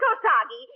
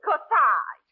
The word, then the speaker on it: corsage: Oh, Parky, darling, it isn't Kosagi. It's corsage. A-G-E is pronounced Ard, as in garage.